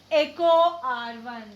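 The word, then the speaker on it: EcoRI: So how to pronounce it? Echo R1.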